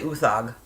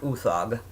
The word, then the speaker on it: Uthaug: But his name is Roar, I want to say Uthaug. I believe that's how it's pronounced. Roar Uthaug.